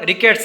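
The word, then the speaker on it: rickets: इसका प्रोनाउंसिएशन ध्यान रखना, रिकेट्स है।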